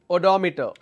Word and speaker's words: odometer: wrong and incorrect pronunciation speedometer is the correct pronunciation there is another word which is odometer odometer what does it do it gauges the